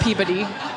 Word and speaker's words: Peabody: It's spelled Peebuddy is how it sounds. Yes, Peabody.